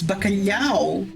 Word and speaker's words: bacalhau: The way we say the LH is very, very difficult for people who are not Portuguese. LH is pronounced le, and people just are unable to do that sound for some reason. Just le. That's it. It's bacalhau. So people are just unable